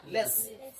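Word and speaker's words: let's: দেখুন, যদি কোন সেন্টেন্সের শুরুতে যদি আপনারা যদি লেটস, উপরে অ্যাপোস্ট্রফি, তারপরে এস, লেটস, এটা উচ্চারণ হয় লেস, আমরা বলি লেটস, কিন্তু শুদ্ধ প্রনাউন্সিয়েশন হয় লেস।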